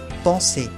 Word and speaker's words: penser: Ahora, si la S viene con una consonante antes, se pronuncia igual también. S. Por ejemplo, penser, pensar.